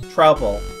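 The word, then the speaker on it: Troupple: Half trout, half apple! Pronounced like mouthful. Trouble.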